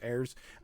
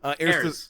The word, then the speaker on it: heirs: you actually have errors there's just the right way to say that hair is heirs heirs there's the three heirs